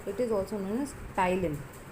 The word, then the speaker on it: ptyalin: Enzyme name is amylase, or it is also known as ptyalin. P is silent. Students, please focus. P is silent. This enzyme is known as ptyalin or amylase.